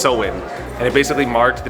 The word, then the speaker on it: Samhain: It's over 2,000 years old, and it was originally pronounced Samhain.